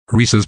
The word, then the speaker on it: Reese's: name correctly tl drive reese's pieces should be pronounced to rhyme while maintaining the correct pronunciation of pieces pronouncing it risky's pses